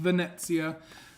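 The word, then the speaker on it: Venezia: um on board the Venitia, Venetsia, Vanessia, however you want to say it. It's pronounced Vanetsia. Um there's no T. It's silent, but uh it's there.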